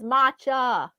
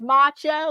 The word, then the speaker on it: matcha: Yeah, we say that too, macho, but this is matcha. Ah, matcha. And it's with a T, M-A-T. Let's see how this is spelled. It's M-A-T-C-H-A. Whereas macho, like meaning a real masculine man, that's M-A-C-H-O.